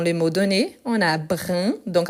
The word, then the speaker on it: brun: mots donnés on a brin donc attention à la prononciation pourquoi brin le féminin brune brune donc